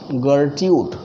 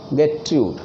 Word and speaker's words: Gertrude: Next गर्ट्यूड, GERTRUD, ध्यान रखिएगा, यह इंटरव्यू में पूछ लिया जाता है। गर्ट्यूड की स्पेलिंग तो लोग कहते हैं GETRUD, गेट्रूड। तो गर्ट्रूड गेट्रूड में अंतर है।